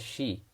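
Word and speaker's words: し: we learnt the hiragana character she this is pronounced as she and not c similarly chi is pronounced as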